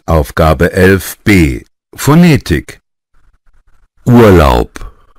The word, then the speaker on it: Urlaub: Urlaub Urlaub بنطق بي تقيلة.